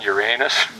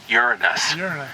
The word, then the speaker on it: Uranus: were Rings discovered around your anus and so they quickly went to the dictionary to look up an alternative pronunciation and it turns out that that alternative is Uranus so let's be polite